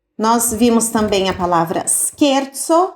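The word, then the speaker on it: scherzo: vimos também a palavra skerzo skerzo Olha como se escreve isso daqui ó o c e vai ser sempre o som de q então com s no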